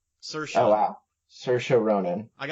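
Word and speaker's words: Saoirse: And Saros Ronin um how do you say her name? Sarah Cersa like in Cersa. Oh wow. Cersha Ronin, I gotta thank Ryan Gosling for that.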